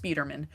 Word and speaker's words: Speederman: Um, it's spelled Spider-Man with two N's, but it's pronounced Speederman.